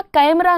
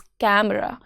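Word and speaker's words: camera: कैमरा कैमरा नहीं होता है। इट्स कैमरा ए का जेंटल साउंड।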